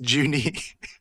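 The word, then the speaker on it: 十二: that's pronounced Juni.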